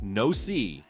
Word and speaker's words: NOC: In 1977, the US Navy caught a white beluga whale they named NOC, pronounced no sea.